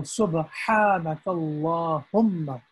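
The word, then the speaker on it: سُبْحَانَكَ اللَّهُمَّ: And the correct pronunciation is from the middle of the throat. So Subhanakallahumma.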